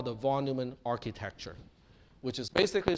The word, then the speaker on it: von Neumann: in question is john von neumann and i was corrected by a few people that it's not supposed to be pronounced von neumann it is von neumann so john von neumann